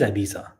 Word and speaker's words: Ibiza: Not all these people in the comments not knowing Morad is pronouncing Ibiza correctly. It is Ibiza.